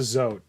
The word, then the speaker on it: Zoat: I've always just pronounced it Zoat, like a goat.